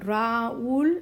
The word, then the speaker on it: Raúl: I need to decide if I want Raul or Raul. I want to break them up. I want Raul. I want 2 separate syllables.